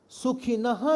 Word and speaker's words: सुखिनः: सुखिनः क्षत्रिय, सुखिनः में जो विसर्ग है ना, इसका प्रोनाउंसिएशन होगा, क्ष के पहले जब विसर्ग आता है तो उसको प्रोनाउंस करना चाहिए। सुखिनः क्षत्रिय नहीं, सुखिनः क्षत्रिय।